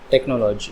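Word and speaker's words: technology: होंगी, जैसे chemical, chemistry, टेक्नोलॉजी। यहाँ पर एच से पहले सी आया तो यहाँ पर एच की साउंड हो गई साइलेंट, ठीक है।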